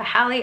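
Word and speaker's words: Hale: Fate um by Tessa hi actually I've been saying Tessa hi and I think it might be Tessa Hill so I'm sorry if I'm saying it wrong it's h a l e I might be saying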